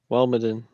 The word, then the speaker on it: Walmaden: So the correct pronunciation is Walmaden. Okay. That's what he said in the video. Yeah. Walmaden. Walmaden. Yeah, I know, not a Y on the end of it. That's what I thought it was Waldmadini.